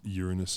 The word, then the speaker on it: Uranus: something pretty friggin awesome um uranus is the preferred pronunciation yeah yeah yeah because uranus means something different that's true that's true